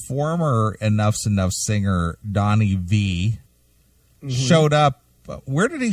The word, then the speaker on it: Vie: And it's the return of Donnie Vie or Vi. How do you say it? V? It's V.